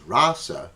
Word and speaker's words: rasa: words rasa and russell the word rasa see how this word here is rasa because it has a long a i've outlined it that